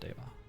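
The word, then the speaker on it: Deva: perid in a while should I pronounced Diva form with a long e uh in the language that that word is from it is pronounced daa at least as far as I know it is fight another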